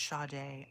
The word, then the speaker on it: Sade: It's pronounced Sade.